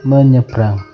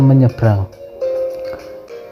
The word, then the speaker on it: menyeberang: huruf dan kata misalnya saat membaca kata menyeberang harus dibaca menyeberang bukan menyeberang ingat ya anak-anak bacanya menyeberang bukan menyebrang intonasi adalah nada suara